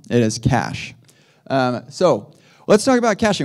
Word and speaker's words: cache: you're going to do is you're going to cash it but not that kind of cash unfortunately you're going to cach it with a CH some people pronounce that as Cas that is wrong it is cache um so let's talk about caching what is